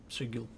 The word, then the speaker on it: Sigil: how you spell that you say sigil not c um and there is